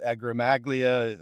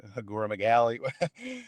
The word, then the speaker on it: acromegaly: They start to worry about whether or not they're going to end up with acromegalia. I probably pronounced that wrong, acromegaly.